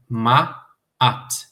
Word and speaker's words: Ma'at: Ma'at. Como em Canaã ou Saara, né?